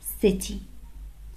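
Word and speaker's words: city: فانا لو قلت كيتي ما قلتش سيتي، هتبقى معناها قطة. كيتي يعني قطة صغيرة، فالنطق الصح بتاعها سيتي، سري سري.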